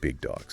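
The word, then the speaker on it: Big Dawgs: That's B I G D A WGS. But remember, we say it like Big Dogs.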